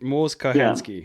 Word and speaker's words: Mors Kochanski: So you mentioned before, and I don't know, forgive me if I pronounce his name wrong, Mors Kochanski. I think Mors Kochanski. Sorry, that's it. Mors Kochanski. Yeah. My mistake. I knew that there was a different pronunciation, but I took a run up and got it wrong.